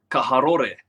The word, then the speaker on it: Karori: gosh, I need to start pronouncing Porirua as Parirua or Karori as Kaharore.